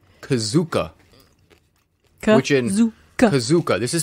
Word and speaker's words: KuZOOk: is good yeah okay this game is called kazuka kazuka this is spelled k-u-z-o-o see the kazuka I know is